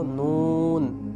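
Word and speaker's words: نون: মূলত নুন হরফের উচ্চারণ যখন আমরা করব হরফের নাম উচ্চারণ করার সময় ঠোটগোল হবে।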